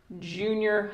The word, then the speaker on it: junior: for middle school or junior high school. So you can use both, and Junior. it means junior. Stress is on the first part.